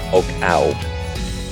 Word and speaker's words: Oggau: the day, which is, I believe it's pronounced Oggau. It's O-G-G-A-U.